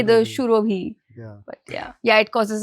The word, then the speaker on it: Surobhi: Should I call you as Surabhi or Surobhi? Or I mean, it's Shurobhi, but it's not how it's pronounced, let's say, in anywhere outside of Bengal.